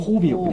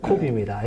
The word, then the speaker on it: coop: 예, 발음이 점 코옵이요. 예, 코옵입니다.